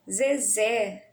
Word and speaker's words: Zezé: Zezé, o Zé, o mais forte está na última sílaba, né?